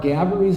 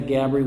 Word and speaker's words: Gaboury: IT at the end, which is pronounced Gabaree in a French tone, the same way the Gabree with the Y is pronounced.